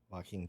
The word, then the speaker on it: Joaquin: Joaquin Phoenix. Joaquin. So the J silent.